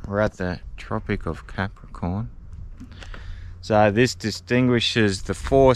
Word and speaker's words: Capricorn: behind the Tropic of Capricorn uh Tori doesn't know how to say it correctly so every other time she calls a Tropic of carac corn Carn so I'll put some